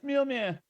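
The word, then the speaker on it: Mjölnir: It's Mjolnir. Oh my god. Mjol Mjol. Nyarlathotep. Nyarlathotep. Thanks, English dude pronunciation.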